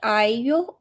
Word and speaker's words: IU: And actually she like IU, is that, am I pronouncing it correct?